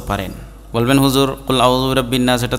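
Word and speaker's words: رَبِّ: পেশ কুল বড় কাফ মানে গলার মাঝখান থেকে উচ্চারণ হবে কুল আউজুবি রব্বিন নাস রব্বিন র জবর রব্বা নুন জের বিন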